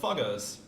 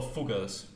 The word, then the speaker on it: Fugger: depositing it with the Foggers. Now please be adults about that name. Where's my cursor? Okay, I couldn't take a look at the Foggers. Or Fuggers, it would be pronounced.